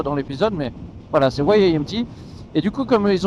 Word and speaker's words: Y-AMT: Ils veulent qu'on prononce YAMT dans toutes les langues, donc Y en anglais, et non pas YAMT.